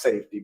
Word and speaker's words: SFTY: And so, if anybody out here listening have not had an opportunity to check out my latest album, which is pronounced Safety, but it's spelled SFTY, go check it out.